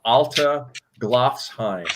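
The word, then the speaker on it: Alteglofsheim: Well, spelling it, I think the pronunciation is Alta Glofsheim.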